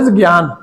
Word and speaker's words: ज्ञान: उसे करो एंड अटैं ये के एन ए एन ए है इट इस प्रोनाउंस ज्ञान तो समय ज्ञान तो